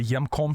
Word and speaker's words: Hjemkomst: it's in Mor um and it's spelled HJ e m k o m St it's very Norwegian we're Norwegian up here and the J makes a y sound so it's the yam Center we we actually had